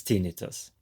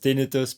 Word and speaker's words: tinnitus: The second thing, there is a debate whether it's correct to say tinnitus or tinnitus. I will stick with tinnitus because that's how you say it in German.